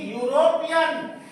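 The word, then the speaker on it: European: इसी तरीके से यूरोपियन, doctor hill is अ यूरोपियन, यहां पर ए लगेगा क्योंकि यूरोपियन यू से उच्चारण हुआ, यूरोपियन।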